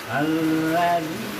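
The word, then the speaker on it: الذي: Alladzi belum digigit itu belum digigit. Alladzi. Nah begitu ba dah sampai besok.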